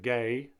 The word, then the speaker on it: Guehi: One incident I can remember off the top of my head was a player named Guehi, and yes, that is how you pronounce his surname as well, ironically.